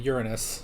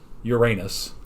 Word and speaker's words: Uranus: For those of you in Great Britain, you are probably aware that we here in America mispronounce it horribly. It has always been Uranus.